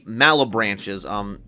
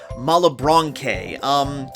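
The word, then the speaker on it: Malebranche: them by the time I record this, the Malabranches, Okay, Future Nova here. Despite all the research I tried to do to figure out the pronunciation, it's now come to my attention that it's pronounced Malabranche.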